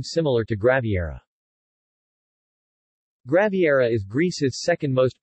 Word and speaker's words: Graviera: Graviera, Greek, Graviera, Greek pronunciation, Ra, B, Ra, is a cheese from